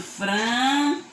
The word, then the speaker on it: francesa: Eu utilizei também, foi utilizado francesa. Estão vendo? Estou pronunciando Z, mas estou escrevendo com a letra Si.